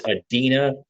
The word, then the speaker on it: Adeena: Her name is Adeena with an A. Like Dina, but put the A in front of Dina. So it's Adeena.